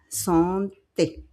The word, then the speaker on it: santé: Santé. Okay. A is pronounced comme un E.